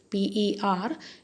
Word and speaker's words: pernicious: P-E-R-N-I-C-I-O-U-S. The pronunciation is pernicious.